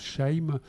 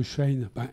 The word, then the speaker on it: Shein: Comme le nom l'indique presque, en fait. Oui, quand on le prononce. Ça vient de Chine, c'est sûr, pas de doute.